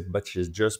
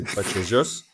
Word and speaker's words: Vallejos: dit en commentaire que ça se prononçait B just parce qu'il est argenttin donc le V se prononce B et le l elle se prononce ch c'est un peu comme